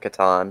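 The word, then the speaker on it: Catan: go yeah this is an actual Settlers of Katon I said it right you said there right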